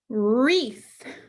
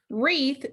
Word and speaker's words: wreath: Wreath, wreath, Wreath starts with W-R, but it's a ghost letter digraph. We don't pronounce the W.